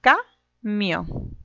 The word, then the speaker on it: camión: Separemos en sílabas, camión. Y ahora, mi sílaba tónica es la sílaba mión, ¿cierto?